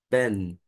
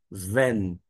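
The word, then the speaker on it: בן: A terminação aqui desta palavra é N, ben, ben, filho, ok? Desculpa, Ven, não Ben, porque Ben literalmente é filho, mas nesta forma aqui se encontra sem um gaguejo, a pronúncia é Ven.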